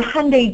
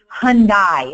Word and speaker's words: Hyundai: your dealership wrong right he's pronouncing your Hyundai dealership Hyundai it's Sunday Monday Hyundai we know this you